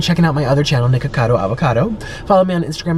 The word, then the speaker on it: Nikocado: Make sure you spell it right. N-I-K-O. Cado. Nikocado. And, by the way, my name's not Nico.